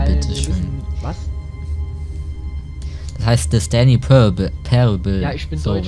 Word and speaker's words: The Stanley Parable: Das heißt The Stanley Parable. Ja, ich bin so Deutsch, wird ausgesprochen, aber...